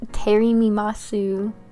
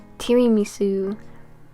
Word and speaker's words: tiramisu: my favorite dessert is Terry mimasu okay sorry that's not how you say it tiramisu which is an Italian